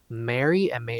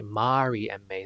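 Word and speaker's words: Mary&May: Mary MA, or I should say Mari MA, that's how you truly pronounce it in Korean.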